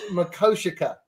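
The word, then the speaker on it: Mako Sica: So it's Mako Shikha. Yep. Yeah, everyone everyone usually pronounces it wrong so Yeah. It it um does Mako Shikha mean bad earth?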